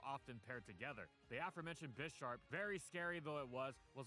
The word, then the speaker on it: Bisharp: Bisharp, I always pronounce Bisharp like bisexual and sharp.